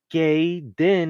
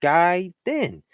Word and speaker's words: Gaiden: with another one is saying gay then instead of guy then so I'mma break it